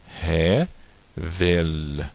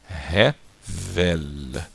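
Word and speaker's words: הבל: E esse L aqui no final, como eu expliquei na aula anterior, é um L que você tem que forçar um pouco a pronúncia dele, como no L do espanhol, ok? Não, o L no hebraico no final não tem o som do U, mas você tem que tentar pronunciar a letra L.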